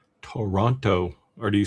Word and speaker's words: Toronto: Toronto or do you say you you say Toronto, right? in in in in Canada it's just kind of become Toronto a faster version of it almost one syllable Tim said my